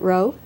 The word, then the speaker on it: Rowe: at about this level with Nicholas and you pronounce it ro Nicholas I have an idea that we should